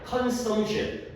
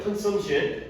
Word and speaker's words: consumption: P가 consumption P 발음을 강하게 안 해요. consumption P가 거의 안 들려요. consumption 얘가 명사로 소비, 섭취가 되겠어요.